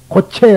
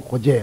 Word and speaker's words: 고제: 채지만 죄라고 읽느냐 하면은 불교에서는 된 소리와 센 소리를 하지 않는 가급적 피한다는 원칙에서 파라밀이라 하지 않고 바라밀이란 고체 안 하고 고제 그렇게 한다이 말이 고재란 인생은 인생의